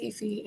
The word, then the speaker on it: Ephie: I say that right you pronounce it like almost correctly but you can just call me you're very very close but my name is ephie and for the last